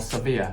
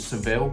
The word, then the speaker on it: Sevilla: You know, in the English language, it's called Seville, or that's how I pronounce it, and they haven't got a clue what that means. You say, can I get a taxi to Seville? They look at you, like, what is that? Then it's Sevilla, that's how they pronounce it anyway.